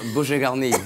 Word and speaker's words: bouquet garni: Well, there you go, and that's how you create your own bouquet garni, or as it's properly pronounced, bouquet garni.